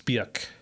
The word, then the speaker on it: Björk: Bjork or Björk? It's Björk. Björk. Yeah, have I said Bjork? I'd say Bjork. It is Björk. That's how it's spelled.